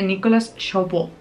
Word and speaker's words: Nicolas Chabot: Que este es de Nicolas Chabot. Se debe pronunciar así, es francés.